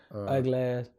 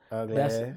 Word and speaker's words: Uglass: Ugly is out. It's pronounced Uglass. Uglass.